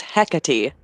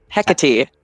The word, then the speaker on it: Hecate: Oh, this is how you pronounce the name. Malcolm, it's Hecate. Hecate.